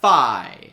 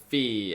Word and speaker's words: Fi: And with 580 votes, in 41st place, we have Fi or Fee. I don't know. I pronounce it Fi like identify.